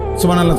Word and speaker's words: সুবহানাল্লাহ: পরে এটারে মেশিনের মতো সুবহানাল্লাহ সুবহানাল্লাহ সুবহানাল্লাহ সুবহানাল্লাহ সুবহানাল্লাহ, কিচ্ছু হয় না। এটা হা উচ্চারণ না হলে তো তাসবিহ হয় নাই। শেষের গোল হাটা সাকিন করতে হবে এবং প্রত্যেকবারই নিঃশ্বাস ফেলতে হবে।